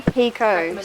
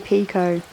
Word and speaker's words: Picoult: Jodi Picoult. So that means the T is silent. Jodi Picoult.